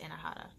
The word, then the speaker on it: Anahata: Oh, and I forgot to say too, the heart chakra, that one's pronounced Anahata.